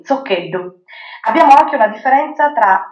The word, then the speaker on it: Zoccheddu: Ah, beh, il mio cognome, Zoccheddu. Dovrebbe essere pronunciato così, Zoccheddu.